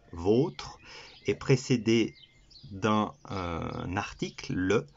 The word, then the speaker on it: vôtre: Alors que le deuxième, qui se prononce vôtre, le O se prononce O, vôtre, est précédé d'un article, le, du, etc.